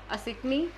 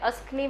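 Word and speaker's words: असिक्नी: आपका वैदिक नेम है असिकनी, ठीक है, इसको हम प्रोनाउंस बहुत वे से कर सकते हैं, अस्कनी भी बोलते हैं इसको, कुछ लोग असिकनी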